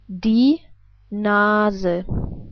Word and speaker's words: die Nase: But we pronounce the E different. We pronounce it like, well, as I already told you, like an E, like in 10.